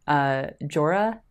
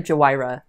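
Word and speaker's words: Jhoira: I grew up calling her Jawira, and I know that's not right. That's not right. That is not right.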